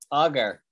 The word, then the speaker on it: augur: Sounds like augur, what we just said before. It doesn't mean anything the same. augur, See, sounds the same.